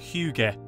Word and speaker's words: hygge: Okay, that joke is great, but it's ruined by the fact that it's pronounced hygge.